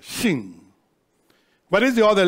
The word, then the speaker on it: Shin: take the letter Shin, that's pronounced with your teeth. Shin, you see? You have to put your teeth together, Shin.